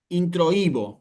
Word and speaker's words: introibo: Este verbo, como les digo, está en tiempo futuro, no tiene ninguna particularidad, solamente introibo, con acento en la i.